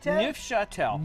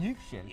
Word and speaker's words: Neufchâtel: cheese and then this weird thing I can't pronounce. It starts with an N. Like Neufchâtel. I'm glad you said Neufchâtel. Neufchâtel.